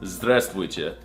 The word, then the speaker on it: здравствуйте: No, that's not how you say it. It's здравствуйте.